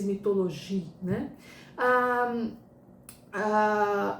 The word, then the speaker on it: Mythologies: se pronuncia mas a em inglês seria mythologies ah ou no francês mitologi né ah ah o